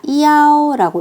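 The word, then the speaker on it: 幺: 핸드폰 번호를 말씀하실 때 숫자 1은 이가 아니라 이야오라고 읽어주실 거예요. 소리가 더 분명해지거든요. 자, 그러면 하나씩 읽어볼까요?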